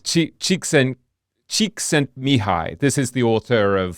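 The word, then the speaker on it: Csikszentmihalyi: that I'm not even going to try to pronounce it. Yeah, it's it's Chiken Cheeks and Mihi.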